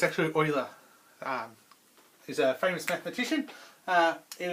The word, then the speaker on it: Euler: Okay, a lot of people mispronounce his name and say Euler, but it's actually Euler. He's a famous mathematician. It was around in the 1700s, okay, but it's Euler, not Euler.